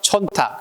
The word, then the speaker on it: 촌탁: 마지막 세 번째는 헤아릴 탁자로 쓰여서 촌탁이라고 해야 돼. 뭐라고 해야 한다? 촌탁. 그래서 헤아릴 헤아릴 탁. 그래서 촌탁이라고 읽힌다는 것을 기억해둬야 됩니다.